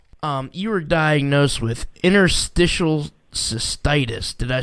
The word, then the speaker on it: interstitial cystitis: her kratom story um you were diagnosed with interstitial cystitis did i say that right you said it